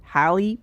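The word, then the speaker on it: Halle: going over the Audio I realized that it's hiy Bailey and I've been saying Haley Bailey this whole time sorry about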